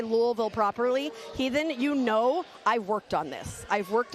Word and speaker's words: Louisville: My husband says that you have to say it with marbles in your mouth. Louisville. Louisville.